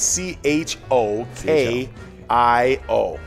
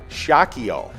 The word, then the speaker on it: Chokio: okay uh uh chokio chokyo let's see it's uh actually pronounced shockio ah okay so i wasn't too far off but yeah the oh for the cha yeah definitely uh threw me off yeah yeah yeah yeah